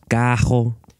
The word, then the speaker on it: carro: The normally trilled R, represented by double R in writing, as well as by a single R at the beginning of words, is pronounced kh by many speakers.